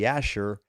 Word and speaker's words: Jasher: Jasher, the word Jasher in Hebrew is pronounced, they don't pronounce the J, it would be Yasher.